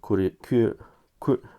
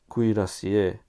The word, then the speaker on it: cuirassier: this is uh one group of uh poppenheim curry ku ku oh that's that's an uh awful uh pronunciation cuirassier bavarian catholic army so uh cut these out